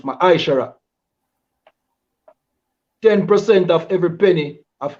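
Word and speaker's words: מעשר: 3, 8 to 10, means tenth in the Hebrew and is pronounced Ma'aishara.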